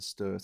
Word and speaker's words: Sturt: It looks like it's a Stewart Highway, but it's pronounced the Sturt Highway, apparently.